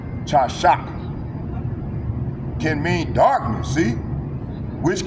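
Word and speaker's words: חשך: Because you know there wasn't no O's or no E's, so that would be pronounced chashak.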